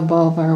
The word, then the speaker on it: Bulwer: I'll spell Bulwer Lytton, B-U-L-W-A-R, and Lytton, or Lytton, L-Y-T-T-O-N, and his novel is spelled Z-A-N-O-N-I, Zanoni.